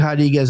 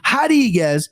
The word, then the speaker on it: Rodriguez: So give me Marina Rodriguez. You pronounce the R's with the H's, baby. Brazilian Portuguese.